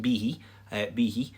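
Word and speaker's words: bithidh: version of b-i-d-h which is b-i-t-h-i-d-h and it's pronounced b b he so you can see why the spelling reflects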